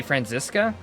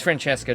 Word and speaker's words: Francesca: to pronounce Francesca's name a lot of people say Francisca and that's what Google says too but I just can't stand by that she's Franchesca to me I will I'm not